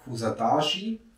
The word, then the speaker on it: Kuşadası: south an hour's drive is the city of kusadashi if you pronounce it correctly K yes in that direction